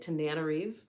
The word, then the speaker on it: Tananarive: Tananarive?